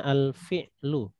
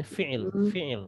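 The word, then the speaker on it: الفعل: Kalau yang di atas ini itu bacanya al-fi'lu. Al-fi'lul madhi. Al-fi'lu. Orang bilangnya fi'il ya.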